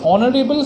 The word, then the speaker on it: honorable: B consonant, or an honorable man. Now see this difference. Honorable starts with H, it is a consonant, but in some cases some letters get silent. That is why the pronunciation is O, honorable.